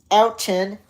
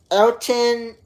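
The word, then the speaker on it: Elkton: There was one in Elton. Elton, Tennessee.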